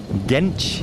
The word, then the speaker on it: Genç: I said for Osman Genç. I think I said Genk earlier. So apologies, Osman. Genç is the correct pronunciation.